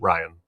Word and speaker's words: Rian Johnson: Ryan. I I've heard Rian.